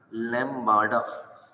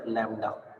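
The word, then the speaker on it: lambda: इस लैम्बार्डा के अंदर ये जो आपको बी नजर आ रहा है इसको साइलेंट रखना है, और अगर ये बी साइलेंट होगा तो ये क्या पढ़ा जाएगा, लैम्डा। ये यूनानी जबान का सिंबल है, इसको हम पढ़ते हैं लैम्डा।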